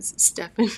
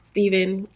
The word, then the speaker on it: Stephen: I don't I don't every time I see a pH I want to say Stefan it's so funny stepen